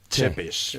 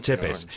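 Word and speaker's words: Țepeș: Dicen los expertos dicen que el Tepes se pronuncia Chepes. Chepes.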